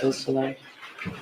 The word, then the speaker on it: Beausoleil: Could you tell me the pronunciation of Madison Baldwin's mother's name, Nicole Beausoleil? Yes. Beausoleil.